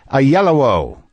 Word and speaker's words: Oyelowo: Today on the show, David Oyelowo.